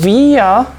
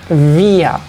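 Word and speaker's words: wir: group we pronounce it via remember that the W you can check the pronunciation in the video in the previous video that I made W in German is V so we say via via VIA in F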